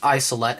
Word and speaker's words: Isolette: isolette the first model you can tell because it's spelled with a J it's pronounced isolette anyways press the button